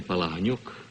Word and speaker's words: Palahniuk: Now, how do you prefer to have your name pronounced, and how is it too often mispronounced? Actually, my name is Palahniuk.